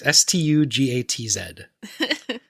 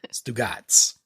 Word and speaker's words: Stugatz: I think they say Stugatz. It is Stugatz. Stugatz.